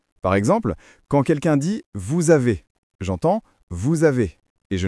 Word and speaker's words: vous avez: Normalement, le s de vous est mué, mais comme le mot suivant commence par une voyelle, on doit le prononcer et ça devient vous avez.